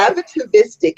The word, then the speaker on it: atavistic: and say this word, it's a lot of syllables, Rhonda. Okay. Atavistic mean, and how is it applied in magic?